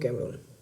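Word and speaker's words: Comorin: Southern most point of India is केप कैमरून, केप कैमरिन, आई am sorry to pronounce cap कैमरिन।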